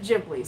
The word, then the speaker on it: Ghibli: It should be Ghibli, or actually no, it should be Ghibli, but he pronounces it Ghibli, Studio Ghibli.